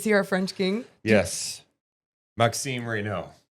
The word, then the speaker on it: Maxime: I know it's Reo, but Maxim. Yeah. Yeah. Yeah. Maxim. It's M A H K S E M for the pronunciation.